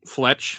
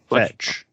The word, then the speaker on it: Fetch: I like as you meet people along the way, like you meet Fletch or what's her name? I said it wrong. Fetch.